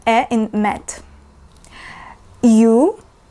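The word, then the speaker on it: Ю: sound a in met U like Q or use yeah like the sound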